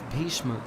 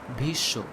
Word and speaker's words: ভীষ্ম: Also take the example of Bhishma in Hindi. This is pronounced as Bhisho.